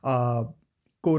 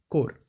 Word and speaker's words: Corps: If I'll say coming from a technical branch, that is core of signals. For sure, the spelling looks like CORPS, but it is pronounced as core.